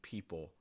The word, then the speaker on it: people: not clear next one l sounds at the ends of words and this tends to be a sound that students don't even realize they're necessarily mispronouncing um but you can hear for instance in that middle where like people people what i often hear